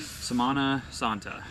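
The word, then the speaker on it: Semana Santa: We mentioned before, like it's Samana Santa, and so I checked with Jess because I keep pronouncing it wrong. You did good. Samana Santa.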